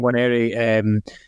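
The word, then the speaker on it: Nwaneri: You don't pronounce the first Ben. I know. Ethan Waneri as well.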